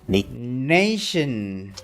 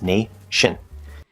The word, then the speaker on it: nation: We have words like nation, where it is an SH sound. It's not nation, tin or natien or something like that. It's nation. Nation.